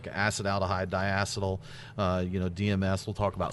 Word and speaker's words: acetaldehyde: There's 2 ways to pronounce it. It's acetaldehyde. Sorry, I can't say it. See? Okay. Right. I say it acetaldehyde. Okay. But yeah, either way is fine.